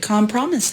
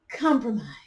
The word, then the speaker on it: compromise: it's really amazing how they got the great Cal promise out of that Cal promise yep compromise yeah although I heard a person in high